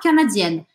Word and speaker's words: canadienne: Então, no masculino, eu só faço a voz anasalada. No feminino, eu pronuncio o N. Canadien, canadienne.